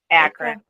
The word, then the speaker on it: Akron: Oh, is it Akron? Is that how you say it? Akron.